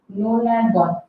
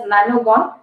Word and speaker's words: nonagon: Nonagon. So the pronunciation for you would be easy to pronounce it as nanogon. You have got a car by name Nano. but it is not nanogon, it would be nonagon.